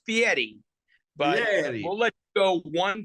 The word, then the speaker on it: Fieri: flavor Town Chef Guy Gary how did I do pretty good except except you got the name wrong it's Fieri we'll let you go